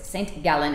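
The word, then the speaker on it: St. Gallen: is sending son gallon if i'm saying it right in swiss saint gallon it looks like saint john g-a-l-l-e-n correct very near the austrian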